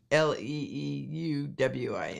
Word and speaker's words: Leeuwin: I think it's Leeuwin, the Dutch spelling, but perhaps our Aussie friends will correct me. David James says Leeuwin.